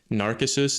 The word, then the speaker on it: Narcissus: The guy who fell in love with his reflection was Narcissus. The C is hard in Latin.